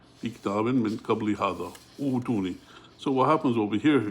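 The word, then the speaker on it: ائتوني: So what happens over here, if you continue with the word before it, you wouldn't pronounce the Hamzatul wasl, you connect to it with the Hamza. But because you begin with it, you have to look at the third letter, which is a Dhamma. So this Hamzatul wasl gets a Dhamma, but then this Hamza sakina changes to a waw. So utuni, that's how you pronounce it, utuni.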